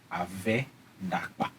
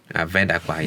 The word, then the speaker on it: Ave-Dakpa: And also before you close, I also want to make sure that as a child of the land, I am correcting the pronunciation. It is Ave-Dakpa. Ave-Dakpa, yeah.